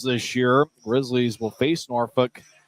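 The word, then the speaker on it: Norfolk: year Grizzlies will face norfol apparently that's how you say it back three game series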